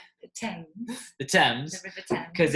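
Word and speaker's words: Thames: I like to call fames which is incorrect it's actually called the TS the TS because it's spelled like themes but it's not pronounced that way um but it cuts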